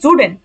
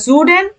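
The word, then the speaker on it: Süden: নর্ডেন নর্ডেন দক্ষিণকে বলা হয় দেখেন এন একসাথে উচ্চারণ জুডেন পশ্চিমকে বলা হয় ভেস্টেন ভেস্টেন ভেস্টেন পূর্বকে বলা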